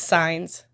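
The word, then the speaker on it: Sanz: So, it's signs. It's s a n z.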